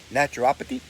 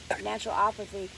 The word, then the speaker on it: naturopathy: Naturopathy? Naturopathy.